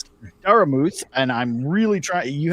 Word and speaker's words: Daramouthe: It's like, oh, is that Daramouthe? It's like, it's a silent E at the end.